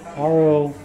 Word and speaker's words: Rorate: I might say it wrong. Rorati. I have a hard time with those two words. R-O-R-A-T-E. Rorate Mass. It's Latin.